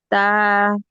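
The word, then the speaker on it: ت: তা, তা। তা হচ্ছে গিয়ে তার মাখরাজ আসে হচ্ছে গিয়ে দুই দাঁতের, মানে জিহ্বার আগা উপরের দুই দাঁতের গোড়ার সঙ্গে, না জিহ্বার বা, বা উচ্চারণটাও হয় হচ্ছে গিয়ে ঠোঁট থেকে, হ্যাঁ বা।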